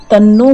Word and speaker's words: तन्नो: तो आप चाहें तो तन्नो का उच्चारण करें, आप चाहें तो अगर आपको विश्वास है तो आप धन्नो का उच्चारण करें, ये आपके ऊपर है, आप कौन सा उच्चारण करना चाहते हैं। यदि अगर आप हमें फॉलो करना चाहें तो तन्नो ब्रह्मा प्रचोदयात् का ही आप इसमें उच्चारण करें।